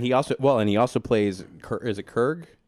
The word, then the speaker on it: Korg: And he also plays, is it Kurg? Korg, which is sort of like the Thing in Fantastic Four.